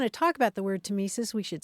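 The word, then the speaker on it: tmesis: I did want to talk about the word tesis we should spell it because it's an oddly spelled word it's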